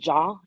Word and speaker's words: Jha: So it's work like WRWORK with, and then Ja spelled JHA, like on my shirt. A lot of people spell it JH, but it's JHA.